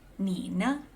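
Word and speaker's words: 你呢: Here we have ni ne, ni ne, Nina.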